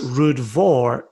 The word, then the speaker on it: Ruadh Mhor: not to interesting yeah but i did somewhere on the internet read that this distillery rhymes with glenn turret i have read the